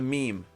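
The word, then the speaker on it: میم: the next one is a meme yes is what it's called it's called a meme I know but it's an M sound one of my dreams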